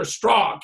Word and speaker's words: Strzok: We also know, of course, that Peter Strzok, and his name is pronounced parallel to Sock, has committed all sorts